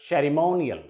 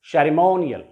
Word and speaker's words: ceremonial: इस पर stress होगा, इस पर emphasis होगा और हम इसे थोड़ा सा vowel length करते हुए बोलेंगे. इसको हम loudly pronounce करेंगे. For example, ceremonial. Ceremonial. Ceremonial नहीं, ceremonial.